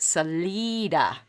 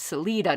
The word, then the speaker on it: Salida: a town um but you'd pronounce it salida like selena but it's salida not salida that's such